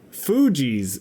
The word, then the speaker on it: Fugees: Okay, Fugees.